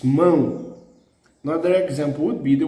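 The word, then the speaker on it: mão: mao but the the the word hand is said mo then we must place the two accent on it moon we thought the accent would be mao it's wrong it's moon another example would be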